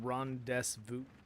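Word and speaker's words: rendezvous: Pronounced Rondes Vu.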